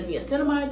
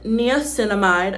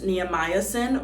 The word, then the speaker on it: niacinamide: Next, we're going in with niacinamide. I used to pronounce this neomycin, which I think is something else, but I literally thought that this was neomycin.